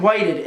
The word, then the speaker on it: Whited: the Nightlord series, Whited. And Whited, you said that's how you pronounce it, right? Yes, it's the past tense of white.